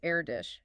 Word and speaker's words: Erdős: He reminded everyone that the correct Hungarian pronunciation is Erdős.